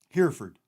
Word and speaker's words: Hereford: About Us oh it's it's spelled here h-e-r-e Hereford Hereford yeah that's where I was going by the way yeah here four that's got to be it I don't know